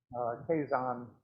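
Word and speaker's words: Keizan: Kazan is the pronunciation, and Ajo.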